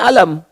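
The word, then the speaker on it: ألم: Tapi yang di alam nasyrah dibacanya alam. Padahal dua-duanya sama bentuk hurufnya. Alif lam dengan mim. Yang satu alif lam mim, yang kedua alam.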